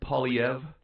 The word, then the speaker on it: Poilievre: hate their government Pierre how do you say his last name po yeah well it's French so it's it's well I don't think he's French but the name is French Pierre POV sort of a weird R silent